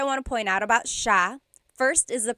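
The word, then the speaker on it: siya: to point out about sha. First is the pronunciation. It looks like it should be pronounced sa cia, but it's actually pronounced sha sha. So the s i y, it's a sha sound. Sha.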